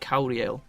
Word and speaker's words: Kauriel: It's like Kauru, but Kauriel. It's like Ariel and Kauru put together.